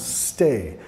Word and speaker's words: stay: When everything would stay, empieza directamente con la S y no este, mas stay.